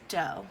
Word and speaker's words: do: sing Jo which is the first note on a major scale Jo a deer a female deer next ray a drop